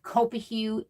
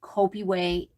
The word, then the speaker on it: Copihue: the copy way quilt it looks like copa hue that is not how you say it it is kopi way um it is a